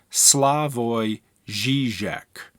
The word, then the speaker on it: Slavoj Žižek: just a couple of pronunciation notes his name is pronounced slavoy Zizek and the city that he's from is pronounced